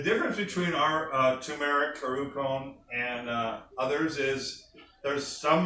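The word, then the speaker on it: ウコン: It's actually pronounced like ice cream cone. I called it ukon for years till I went to Japan. They said, no, it's called ukon, like an ice cream cone.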